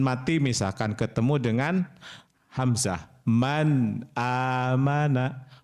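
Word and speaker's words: مَنْ آمَنَ: Man amana. Man amana. Enggak boleh man amana atau man aman. Itu enggak boleh tuh. Kalau itu nanti idgam digunahkan. Jadi tawas pertengahan ya.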